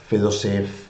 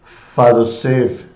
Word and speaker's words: Fedoseev: Fedoseev in Spanish. Fadoseev in Russian. I think it's the way they pronounce it.